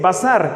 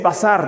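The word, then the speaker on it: בשר: Y entonces, nada que ver con carne, por decirlo así, que también así se pronuncia en hebreo, basar, pero está vocalizado de una forma diferente.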